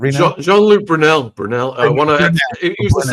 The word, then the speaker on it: Brunel: can correct me if I'm getting his last name wrong, but it's Jeanluke Real. Is that is that the right guy? Is it Real? Jeanluke Brunell.